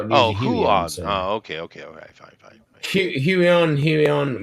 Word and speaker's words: Huion: Huion, they're a Chinese.